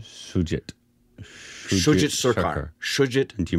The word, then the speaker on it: Shoojit: Shokil? Is that how you pronounce his first name? Shoojit.